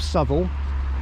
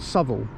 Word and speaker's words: Southwell: the market town of Sul which isn't actually that far away. That is how you say it. Although if you read it, it looks like it says Southwell. It's actually called SL.